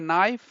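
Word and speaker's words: knife: کې نه تلفظ کی لکه نایف نی نایف د کې نه وروسته چې ان راسي کې اول نه تلفظ کی نی بل دلته د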